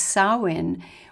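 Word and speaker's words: Samhain: to the Celtic holiday of spelt Sam Hine pronounced sawin when The Druids would go from house to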